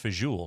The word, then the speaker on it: fagioli: It's pronounced fagioli, son.